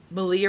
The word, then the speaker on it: Malia: with friends and um Malia rhymes with Maria had her Mystic Square